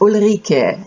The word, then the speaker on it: Ulrike: because my name is Ola Rika you pronounce it kind of like Eureka which may be an